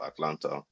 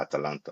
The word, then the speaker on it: Atalanta: I think it's going to be Juventus and, funny enough, Atlanta, or Atalanta, depending on how you pronounce it. Atalanta.